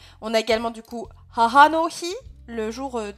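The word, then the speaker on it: 母: Donc, celui-là, quand il est tout seul, hein, on prononcera haha. Voilà, ma maman. Hein. Watashi no haha. Sinon, en lecture en, il se lira plutôt beau.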